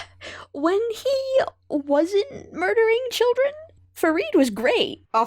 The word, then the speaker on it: Ferid: he wasn't murdering children fareed was great oh farron yeah is that how they say his name in the sub it's ferid oh okay okay gotcha